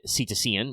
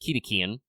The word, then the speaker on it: cetacean: Obviously, if you're familiar with your biology, the word usually said cetacean, but I guess should probably technically be pronounced Ketacean.